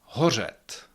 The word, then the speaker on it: hořet: Horat that means to burn or co it.